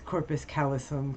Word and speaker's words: corpus callosum: I mispronounced it. It's corpus callosum, corpus callostrum, corpus callalala.